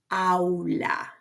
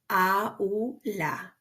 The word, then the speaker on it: aula: You cannot skip. You cannot combine. You gotta respect the pronunciation of each one that you see, like in this word, that means classroom. It's the word aula. Aula.